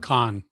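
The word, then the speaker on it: Caan: and it's interesting james how do you say it kane or khan khan james khan so james khan with those big square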